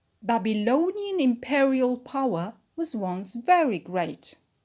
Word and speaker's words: imperial: is automatic secondary stress imperial imperial is an adjective as well and we put the stress on per imperial sorry imperial power we